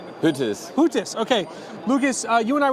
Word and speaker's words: Huettis: Huettis, okay.